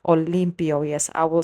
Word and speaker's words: Olympo: So, today I'm here to speak about this series and it's basically called Olympio. Yes, I will spell that out.